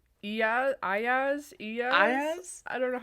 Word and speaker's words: Iyaz: It's Iyaz.